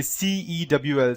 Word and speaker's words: CeWL: business of targets using CeWL, or cool as I say, or the specific word would be CeWL, C in caps, WL in caps.